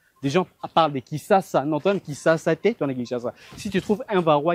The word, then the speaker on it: Kinshasa: Voilà quartier Kinshasa Kinshasa Kinshasa Kinshasa des parlent de Kissasa Kissas Kinshasa si tu trouves un varo qui dit ne le giflez pas mais n'applaudissez pas pour lui.